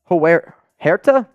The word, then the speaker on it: Huerta: And then Scott Eckert up against Steven Huerta. How would you pronounce that? Silent H. Huerta.